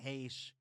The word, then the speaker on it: Heche: But I've been saying H, since 6 days, 7 nights over here. So is everybody. Yeah. Have I brought up the fact that my professor in a community college film class pronounced her last name as Heck?